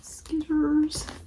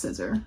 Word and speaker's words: scissor: Skizzers. Skizzer. Yes, I know it's pronounced scissor. I've been doing skizzer since I was a kid.